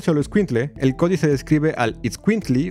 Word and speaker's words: itzcuintli: Pero la segunda, que es itzcuintli y no escuincle como usualmente lo pronunciamos, es la palabra náhuatl para perro.